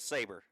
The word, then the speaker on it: Sarber: It is Sarber, but we pronounce it Saber.